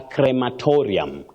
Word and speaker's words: crematorium: Then that place, you call it a crematorium. Crematorium. That is the way to pronounce that word, Betty. You get it right? Yes. Crematorium, yeah. That one we normally say it very wrong. Crematorium, so it's crematorium.